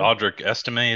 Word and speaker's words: Audric Estime: Audric Estime, is that how you pronounce it?